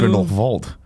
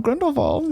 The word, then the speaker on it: Grindelwald: Wait, it's I'm not sorry, Grindelwald, did it's you- Grindelwald. Because he's German. Oh. Everyone keeps calling him Grindelwald. Yeah. And now I call him Grindelwald.